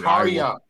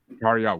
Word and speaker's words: Tarja: on, It's I will Tarja. Tarja. What I wanted to say that, but I didn't want to fuck it up, so I was like, yeah. But the J is silent.